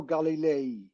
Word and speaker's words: Galilei: Galileo a golly uh Galileo Galilei that's his full name he was Galileo the son of Galileo so it's Galileo Galilei Galilei he was burnt at